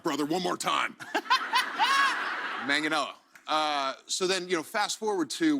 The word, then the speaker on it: Manganiello: It's just Joe Manganiello. Yes. That's it. Yeah. Who has butchered it the worst in your career?